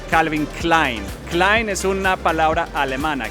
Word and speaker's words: Calvin Klein: No, lo dijiste bien. En inglés se dice Calvin, bueno, en inglés, en todos los idiomas se dice Calvin Klein.